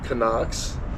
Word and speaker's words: CNOC: And then I had always carried my CNOC, or I heard some people call them Canucks. I don't know, I've always pronounced it CNOC, and my water filter on the other side pocket.